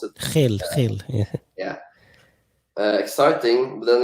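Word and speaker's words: Gil: Is that the way you pronounce it? Hill, yeah.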